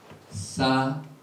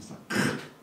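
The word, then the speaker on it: סכך: 사칵. 이 발음이 굉장히 힘들어요. 사칵. 이 목에서 나오는 가르침 받는 소리가 나와야 되는데 저는 잘 안 됩니다.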